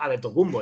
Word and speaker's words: Antetokounmpo: tocó un poco la mente pero realmente la pronunciación correcta sigue siendo a de tocumbo el tema está en que cuando se verá